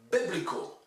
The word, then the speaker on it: biblical: Regarding coming back to words that were not stressed properly, biblical, the Bible, you say the Bible, but the adjective is biblical, so that it's not biblical, it's biblical, okay?